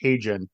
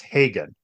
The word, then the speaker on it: Hagen: actor I okay I've always pronounced his name as Haun but it's Hagen Matt Hagen is his